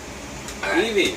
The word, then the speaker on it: Eevee: Eevee, pronunciation Eevee, height 1 foot.